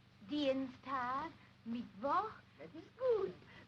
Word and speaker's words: Dienstag: Sonntag, Montag, Dienstag, Mittwoch, That is good. But pronounce the words broader, so Sonntag, Montag, Dienstag, yes?